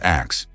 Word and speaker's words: ask: For instance, the word ask was actually pronounced as ax.